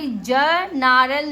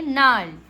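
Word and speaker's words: gnarl: देखिए align sign नारल अब यहां पे ज नारल नहीं पढ़ेंगे इसको क्या पढ़ेंगे नारल ज नरली नहीं पढ़ेंगे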